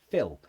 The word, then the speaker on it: fill: Fill and fill. Okay, the second two, fill like fill a glass, and the name Phil, exactly the same.